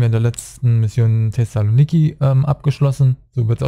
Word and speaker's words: Thessaloniki: Wir haben ja in der letzten Mission Thessaloniki abgeschlossen. So wird es ausgesprochen.